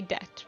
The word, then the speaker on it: debt: I know you write debt, but you say debt, right?